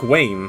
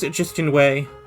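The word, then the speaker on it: Justin Way: his name before cuz that's more like Wayne which is how I was pronouncing it incorrectly his name was just in way thank you Celeste and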